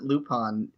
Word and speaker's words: Lupin: Why do we pronounce it Lupin if it's an I? It's French.